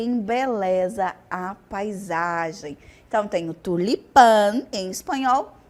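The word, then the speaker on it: tulipán: tela natural que embeleza a paisagem então tenho tulipan em espanhol e Tulipa em português nosso próximo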